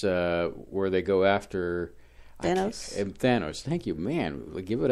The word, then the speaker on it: Thanos: Thanos. Thank you, man. Give it up for you. Gold star. I know it because it rhymes with Manos.